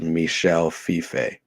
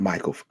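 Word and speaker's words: Michel Fiffe: uh let's see taishan says pronounced Michelle Fife oh it's not Michael gosh Michelle like it's French ah fragile it must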